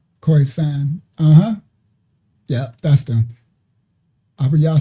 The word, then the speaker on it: Khoisan: Those are the ones I misspelled of Southern Africa, pronounced Khoisan.